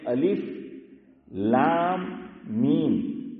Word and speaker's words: الم: تو وہ پڑھا جائے، لیکن ہم پڑھتے ہیں الف لام میم، حالانکہ ہم ہجے نہیں کر رہے ہیں، ہم کیا پڑھ رہے ہیں ہاشم بھائی؟ رواں پڑھ رہے ہیں، لیکن حروف مقطعات کی پہچان یہ ہے کہ اس کو الگ الگ پڑھا جائے گا۔ الف پورا پڑھا